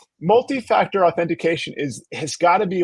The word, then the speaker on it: authentication: it's a tough one it's almost as bad as multiactor authentication I hear a lot of people say authentification oh yeah oh yeah